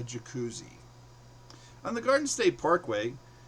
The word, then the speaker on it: Jacuzzi: She says, "I hope the hotel has a japussy." I go, "No, honey. It's called a jacuzzi."